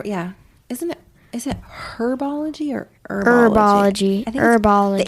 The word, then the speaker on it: Herbology: Is it herbology or herbology? Herbology. I think Herbology. the H is silent.